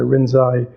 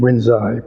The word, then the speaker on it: Rinzai: Rinzai, when these teachings from Linji came to Japan, the Japanese have their own way of pronouncing characters, the Chinese characters. So they, in their way of pronouncing, Linji became Rinzai, but it's the same person.